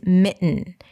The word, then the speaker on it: mitten: across during Christmas is mitten. Mitten or mittens. Mittens. And I want to talk about it because it has the nasal T, which means a T sound that goes into an N right away.